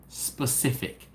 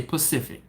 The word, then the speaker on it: specific: How many people know someone that can't say specific? They say Pacific. They do something a Pacific way.